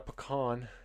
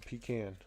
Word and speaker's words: pecan: no o and pecan so it's not a pecan it's a pecan but even most of the people around here say pan that's say p can and they laugh at me so I get it